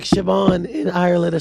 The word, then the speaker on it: Siobhan: In the English, America, we do names like Siobhan in Ireland are spelled with a B.